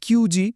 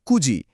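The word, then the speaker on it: 九時: চারটা, সাতটা এবং নয়টা বাজার ক্ষেত্রে কোনভাবেই মানে ভুল করেও সিজি, নানাজি বা কিউজি বলা যাবে না। ওই হাইলাইট করা অংশগুলোর সঠিক উচ্চারণ হবে ইউজি, সিচিজি এবং কুজি এটা একদম মাথায় গেঁথে নিতে হবে।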